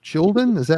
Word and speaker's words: Skjolden: Definitely go check out Carl's new project, SKJOLDEN.